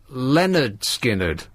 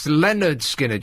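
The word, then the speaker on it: Lynyrd Skynyrd: in the title the first album was called pronounced Leonard skinnard which is going to come as a surprise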